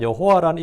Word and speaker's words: 여호와: 왜냐하면 여호수아, 호세아, 예수아 이런 같은 이름의 표기와 발음을 통해서 우리가 여호와란 발음이 야훼보다 훨씬 더 정확하다는 걸 알 수 있습니다.